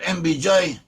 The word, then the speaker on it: MBJ: we put them together we've got mbj which Rhymes which rhymes with LBJ and when I was